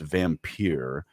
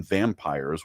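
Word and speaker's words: vampyre: The tour ended at a vampire bar, pronounced vampire. For supposedly immortal beings, they have thin skins if you call them vampires without the Y.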